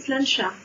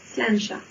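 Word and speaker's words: sláinte: Ça se prononce Slancha. Slancha. D'accord. Voilà. Ok. Voilà, tout simplement. Pourquoi? Eh bien parce que c'est comme ça. Le gaélique, ça ne se prononce pas comme ça s'écrit.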